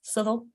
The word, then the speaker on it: Southwell: Well, like there's a place near here called Southwell. It's Southall, Chilwell, Bulwell.